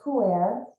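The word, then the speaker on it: Pu-erh: have not heard of is uh pronounced pure and it's a fermented tea and like a fine wine poo air has become better with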